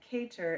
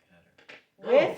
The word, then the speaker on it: cater: Why is it cater, not catter?